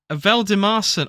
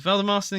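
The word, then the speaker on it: Valdimarsson: Veldemarson. Okay, it's easy. Never mind. That's a lot of letters, but it's not many syllables. Veldemarson in goal for Brentford.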